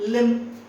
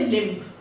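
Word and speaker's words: limb: ठीक है लि again the word B is silent लिम यू डू नॉट से लिंप ठीक है डम बोलते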